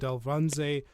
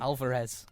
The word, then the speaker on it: Alvarez: debussey who is playing anita you have david alvanze oh sorry that is i butchered that completely alvarez alvarez my god bernardo i've got mike faced